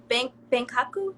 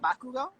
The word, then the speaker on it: Bakugo: His name is Benkaku. Am I saying it right? Benkaku Bangkok. from My Hero. Oh, Bakugo. Bakugo, yeah. I butchered his name terribly.